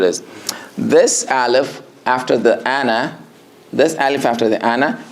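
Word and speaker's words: أنا: And this alif that you see after that noon is not a mad for it. So you pronounce only the Hamza and the noon and pronounce it as Ana.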